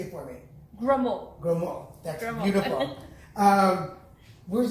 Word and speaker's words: Gremaud: Batista, and I'm going to say your last name wrong, so say it for me. Gremaud.